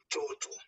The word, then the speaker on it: mtoto: Only time there's an M in Swahili, you pronounce it alone. You give a pause. You give a pause in that one before you pronounce the next following consonants that are following.